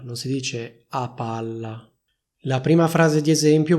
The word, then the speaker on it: a palla: Fai attenzione perché in questa espressione c'è soltanto una P, però viene pronunciata come se ce ne fossero due, cioè come se ci fosse una doppia P. Infatti si dice a palla, non si dice a palla.